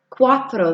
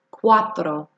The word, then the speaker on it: cuatro: 4 es cuatro. Cuatro. That U and the A make the wa. Cuatro.